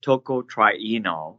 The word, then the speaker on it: tocotrienol: trip try knows less about flopper wood is pronounced tocotrienol chocolates and and sometime people said that you